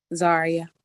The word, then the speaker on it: Zaria: Zaria.